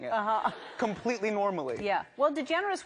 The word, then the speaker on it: DeGeneres: Well, DeGeneres was hard for people to get for a while. What did they do? DeGeneres or degenerate or, like, you know, lots of other things. And you stayed strong. DeGeneres.